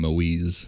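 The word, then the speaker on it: Moïse: Which they called him Moise as the the French the French Canadian pronunciation of it.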